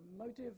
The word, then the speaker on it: motive: has capital letters so motive is stressed on the first syllable motel on the second syllable so you so you